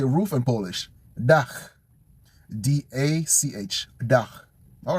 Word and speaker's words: dach: Dach.